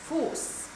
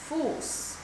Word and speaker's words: Fuß: So for example, the harsh S is pronounced like in the word Fuß, Fuß, which is the word for foot.